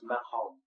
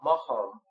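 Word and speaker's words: Makom: as early undoubtedly as the 1st century, was Mahom, in English M-A-K-O-M, the place, as a name for the unpronounceable Yahweh.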